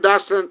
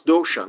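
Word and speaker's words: Dušan: Yeah, that's why our friend Dustin, he told us. He told us that. So or Doshan. You have to pronounce Doshan.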